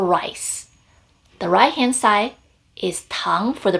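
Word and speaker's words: 糖: Sugar, tang, has the same pronunciation of Tang in the Tang Dynasty.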